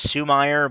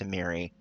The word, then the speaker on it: Sumire: I always thought that was Sumire, but apparently it's pronounced Sumiri, according to the developers.